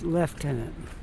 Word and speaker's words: lieutenant: Lieutenant we say leftenant there's no f in it spelled the same way Lieutenant but we say it left here don't ask me why I don't know but it looks like Lieutenant what is pronounced leftenant kind of like l i e f but it's l i e spelled l i e I don't know there's